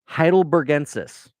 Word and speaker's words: Heidelbergensis: It's let me try this again. Heidelbergensis. That's it.